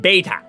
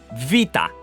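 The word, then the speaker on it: βήτα: Now, everyone's gonna call it beta. Unless you're a fucking goat and you do because you're a goat, it is pronounced as vita. Like the Italian word of life.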